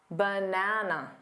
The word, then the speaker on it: banana: is louder and longer the correct way to say this is banana banana so which syllable is